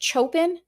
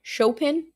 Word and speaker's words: Chopin: What's that little thing of I is it chopen? It's not chopen. It's chopen. Right. Chopin.